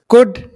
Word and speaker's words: could: Could कर सकता था. यहां ये बात नोट कर लें, could में L साइलेंट होता है.